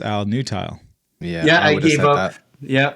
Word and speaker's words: Nutile: Yeah, it is Nutile. Yeah. I think you're saying it wrong. Maybe. My family says it with a lot more finesse, being from Italy. They really get the vowels right. Nutile.